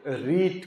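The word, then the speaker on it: writ: आर आई टी ट ये गलत नहीं है आप ये नहीं सोचेगा कि यहां य छूटा हुआ है एक अलग वर्ड है ये रीट कहलाता है क्या कहलाता है रीट ये कोर्ट का वर्ड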